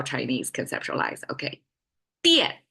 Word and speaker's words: 电: Okay, 电 is how we pronounce it, fourth tone.